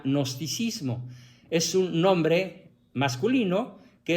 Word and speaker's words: gnosticismo: de nos y si se escribe g gnosticismo o también se le quita la g y se pronuncia gnosticismo es un nombre masculino